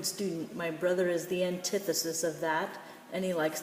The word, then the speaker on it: antithesis: first one one antithesis notice I made the I big and dark to notice that it's not anti but the emphasis the accent is on the short eye sound antithesis so anti is the